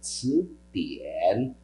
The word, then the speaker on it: 词典: tom, e tien, né, o IAN mandarim se pronuncia como ien. Então, tsu, tien, né, tien no terceiro tom e tsu no segundo.